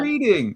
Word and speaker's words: Reading: It's pronounced reading. Is it the same? Like I read the book last week.